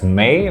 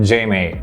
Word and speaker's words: JMEY: is from the brand jma or i think they pronounce it as a silent j as may or let's just call it j may so this is the